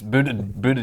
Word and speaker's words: Buttigieg: It's Buttigieg.